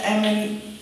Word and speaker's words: Amin: and then there was a series that Professor Amin, am I pronouncing it?